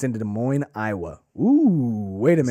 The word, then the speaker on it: Des Moines: Maybe I believe it's pronounced Des Moines. Yes. Des Moines.